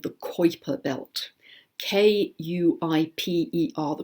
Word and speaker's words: Kuiper: these planets orbit in what is called the Kuiper belt k-u IPE are the Kuiper belt which is way out in space beyond